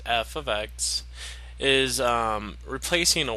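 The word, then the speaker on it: f(x): Technically, this f of x, and then that's how you pronounce it, f of x, is replacing a y.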